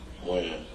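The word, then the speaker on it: Wynn: Win. Win? Or Wen?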